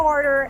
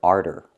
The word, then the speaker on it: order: I'm gonna order at the counter. I cannot pronounce the word arter. The word is pronounced order. Use the or sound for the first syllable. Or, like floor and more.